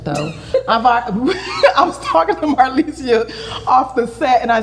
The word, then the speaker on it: Marlesia: Marlesia.